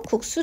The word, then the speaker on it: 국수: 소리가 일어난 단어가 되겠습니다 그러면 국수 정리해볼게요 국수는 국수 로 발음이 되고요 된 소리가 어디서 일어난다고 봤더니 앞에 있는 기억에 영향을 받아서 c5 시상 c 옷으로 바꿨습니다 어 그러면 앞에 종성